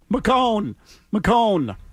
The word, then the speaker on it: McCone: McCone. Rhymes with bone.